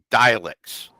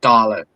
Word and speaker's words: Dalek: And uh I mean hell he doesn't even like killing dialects. That that was the whole pronounced Dalek.